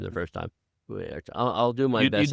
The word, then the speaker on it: Uriarte: Uriarte. I know I butchered your name the first time. Uriarte.